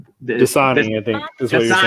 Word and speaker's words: Dasani: That's it's DSAIN. Dasani, I think is what you're saying.